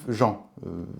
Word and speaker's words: gent: le nom le substantif Jean c'est écrit là là là le nom Jean il est conseillé de ne pas prononcer le T vient du latin gen